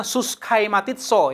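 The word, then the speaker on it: συσχηματίζεσθε: Kalau bahasa Yunaninya ini adalah suskaimatitso. Bacanya suskaimatitso ya.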